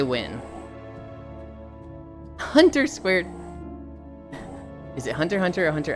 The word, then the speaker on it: Hunter x Hunter: You write the X.